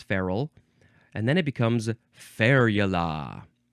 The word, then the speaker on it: ferule: changes so much feral it looks like feru but it's not it's feral and then it becomes